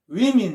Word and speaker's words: women: 그러니까 이 발음은 이거는 women 이렇게 발음한다는 거죠.